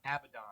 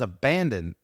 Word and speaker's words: Abaddon: It's pronounced Abaddon. Abaddon. Oh man, I didn't know that. I thought it was abandoned.